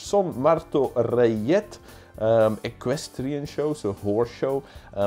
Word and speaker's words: Martorellet: is the Son Martoje, hard to pronounce, the Son Martorellet. Reyet, that has to be because it's Spanish. Son Marto Reyet, equestrian show, so horse show.